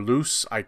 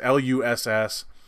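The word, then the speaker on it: Luss: actress not probably mispronouncing named Sasha Loess or loose eye it's Lu SS I'm not saying she's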